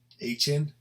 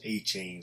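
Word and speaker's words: Achane: the rookie running back, Achan, because he doesn't want to pronounce A-Chain, so I think it's Achan, whatever.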